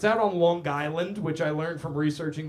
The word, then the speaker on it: Long Island: Uh when you say long like you have to say it's and you got to hit that G. It's not a soft G. It's Long Island. Like there's the word guy in the middle.